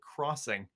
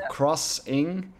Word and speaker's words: Xing: I'll bet you they want you to pronounce it crossing, because in the States XING is crossing, and they have a kind of whole porting thing going. So I think it's Crossing the Land Beyond.